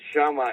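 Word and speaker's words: Chama: Sha is the the right way to say it and it's catching up.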